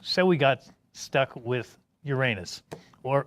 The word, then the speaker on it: Uranus: we got stuck with Uranus or uranos if you like the more Greek pronunciation well once people had